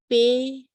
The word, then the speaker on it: pingasungilrit: Sometimes I find it's just easier to break it down by the consonant and the vowel that follows it.